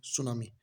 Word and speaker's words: Tsunami: सुनामी जापानी शब्द है, और इसका अगर हम लिख कर देखते हैं तो इसका नाम होता है TSUNAMI, सुनामी। क्यों? क्योंकि टी साइलेंट रहता है।